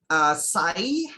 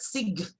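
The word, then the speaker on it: sigh: So they were then taught the word is supposed to be pronounced as sai and not sig. For example, they were then given examples of other words containing I that are spoken in the same way, such as hi and thai.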